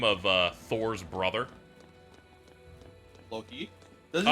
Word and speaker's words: Loki: Alto, how would you pronounce the name of Thor's brother? Loki. Does he say Loki? Lokai.